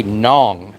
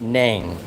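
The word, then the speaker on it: Nẵng: And I'm telling you, they will say nong, not nang. Nong like that rhymes with song.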